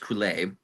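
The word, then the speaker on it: Coulais: The music is incredible, and the lyrics are gibberish, and they're gibberish on purpose because the composer, Bruno, I believe his last name is pronounced Coulet.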